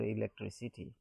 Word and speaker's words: electricity: So here you can see the four syllables here, electricity. The second one is tree, so here the stress falls.